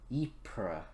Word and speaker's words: Ypres: it and used it in the battle of ypres let me double check that let me take a break and i'll come back with the correct pronunciation so according to the video it's called eepra i don't know i'm gonna send a put